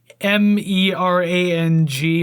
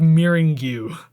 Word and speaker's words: meringue: Well, like phonetically, it's like MERANG or something like that. But yeah, no, it's like meringue.